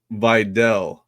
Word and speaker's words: Vidal: I don't want to mispronounce it. Matt Money Smith says it's Vidal.